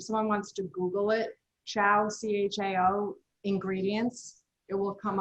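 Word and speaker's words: Chao: So this was the chow cheese. It's spelled C-H-A-O.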